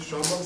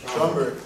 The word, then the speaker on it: Schomburg: So, I was at the 200th anniversary of the end of the Atlantic slave trade at the, how do you pronounce it, Schomburg Center? And Schomburg.